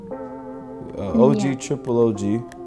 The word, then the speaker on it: OGtripleOG: OGtripleOG, the name itself, it stands for it stands for original gangster gaming, and the last G is silent because the real G is moving silence.